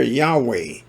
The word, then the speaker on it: Yahweh: Those who choose the name Yahweh have chosen to use the W sound that's in the Tetragrammaton, the YHVH or YHWH.